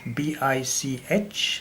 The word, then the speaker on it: BIC: I don't want to mention, because the spelling was B-I-C-H, and they realized that the spelling was, I mean, the pronunciation of the pen, of the name of the pen, turns out to be kind of a swearing word, and therefore they drop the H and make it B-I-C, BIC.